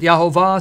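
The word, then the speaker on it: יהוה: Some pronounce it Yahovah, some Jehovah, Yahweh.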